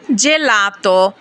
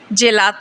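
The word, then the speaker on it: gelato: ফিওরে ফিওরে অর্থ ফুল জি এর উচ্চারণ কখনো জ এর মত যেমন জেলাত জেলাত মানে আইসক্রিম কখনো গ এর মত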